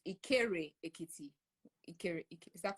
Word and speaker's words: Ikere Ekiti: Apparently, I mispronounced it, and I said Ireke Ekiti. So it's not Ireke Ekiti. It's Ikere Ekiti.